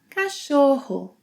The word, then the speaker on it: cachorro: Cachorro, cachorro, which means dog.